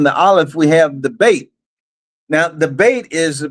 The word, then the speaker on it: Beit: Another way you could pronounce the Beit is Vet, of Vav. And so is Ab, or is Av.